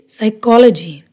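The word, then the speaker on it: psychology: है इसका रूल है पी is silent in the combination of पी एस, पी टी एंड पी एन, यानी जब पी एस, पी टी और पी एन का कॉम्बिनेशन आए तो वहाँ पी साइलेंट होएगा।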